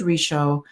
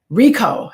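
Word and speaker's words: Richo: keys to mindful loving David risho Rico Rico that's how you pronounce it and I'm on page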